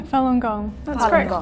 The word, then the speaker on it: Falun Gong: some Antiguan we've talked a lot about um Falun Gong is that how am i pronouncing it right yeah Falun Gong yes what is the actual meaning of that